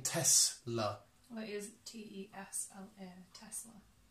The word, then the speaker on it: Tesla: Well, it is Tesla. Tesla. Right, okay. So people pronounce Yeah, it people- differently.